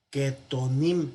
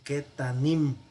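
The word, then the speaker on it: קטנים: Catón es pequeño, pero el plural va a ser ketanim, no va a ser ketonim, sino ketanim. Este holem que estaba aquí arriba, o esta holem que estaba aquí arriba, se redujo y se hizo un pataj. Entonces vamos a tener ketanim.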